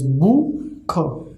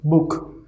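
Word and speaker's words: Buch: Then the pronunciation of this ch will be kh. Okay, So it is book, book.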